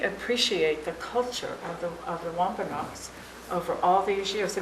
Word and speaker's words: Wampanoag: It's Wampanoags, not Wampanoag. Some people say Wampanoag, but that's not how you say it. And if you say it in Indian, it's just a little bit different.